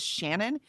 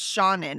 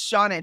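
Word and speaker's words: Seanan: And she says no no it's Shaunen. And the way she told us is that's how her name is pronounced. Okay. And she says it's Shaun in. She says like let Shaun in.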